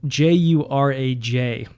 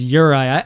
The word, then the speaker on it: Juraj: Now Uri, uh his name by the way is spelled J U R A J.